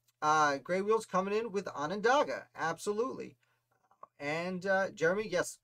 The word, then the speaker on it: Onondaga: I spelled it wrong, and I learned at the DMV that it's pronounced Onondaga, not Onondaga. I was laughed at on several occasions because I didn't know how to say where I lived.